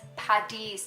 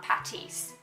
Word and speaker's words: Paddy's: more from American people, it's PADDY'S Day, not Patty's. Patty is a burger. Paddy is short for Patrick.